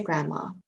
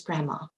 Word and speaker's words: grandma: If you say it very quickly, we don't pronounce the D, it becomes grandma.